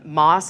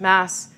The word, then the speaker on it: MaaS: There's a thing in the micromobility industry called MaaS. I've also heard it pronounced MaaS.